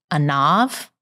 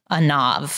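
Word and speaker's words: עָנָו: And that's a nav. A nav. It might be a nav because sometimes V's are pronounced as B's in Hebrew.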